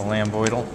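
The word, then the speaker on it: lambdoid: have the lamboid suture although usually I say lambid doal to help you remember how to spell it technically it's the lamboid and the lamboid suture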